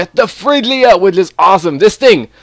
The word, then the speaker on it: Fridgia: an ice kingdom called Fridgia? Yeah, I think it's pronounced the same way. It's without the D, basically, is located.